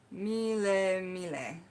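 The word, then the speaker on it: melemele: So now we're going to talk about the color yellow, which is pronounced in Hawaiian Magick, mile mile.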